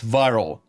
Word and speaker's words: Vyrill: By the way, the word viral it's a play on the word virality. Videos go viral, but it's spelled a little bit differently. It's VYRILL. So it's viral.